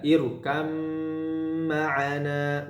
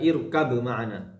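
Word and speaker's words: ارْكَبْ مَعَنَا: Jadi ba-nya tidak ada. Irkam ma'ana, bukan irkab ma'ana.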